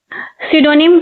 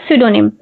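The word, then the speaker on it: pseudonym: सिडोनिम। इसमें P silent होता है सिडोनिम।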